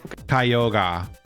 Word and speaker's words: Kyogre: Kyogre right now and it's pronounced kyoga there's no G in that the legendaries are usually